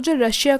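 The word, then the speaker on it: tsar: refer test जर तो जो रसिया का रोलर उसको हम जर बोलते थे इसमें टी साइलेंट होता है ड्यूरिंग रूस रिवॉल्यूशन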